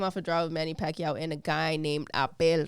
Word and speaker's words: Pacquiao: Pacquiao.